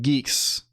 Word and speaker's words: Guix: is it is it guix um the user the user manual says Geeks um can we can we see it's pronounced like Geeks I don't know why